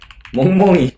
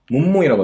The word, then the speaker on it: 멍멍이: 그리고 멍멍이, 이거 진짜 일본인들이 어려워하는 발음인데 이거 하라 그러면 엄청 귀여운 모습을 보실 수 있을 거예요. 멍멍이 하면은 뭐라고 하냐면은 몸모이라고 해요. 몸모이 좀 이런 느낌?